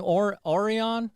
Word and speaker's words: Aurion: we started recording but the uh am i pronouncing orion is that correct yes yes okay all right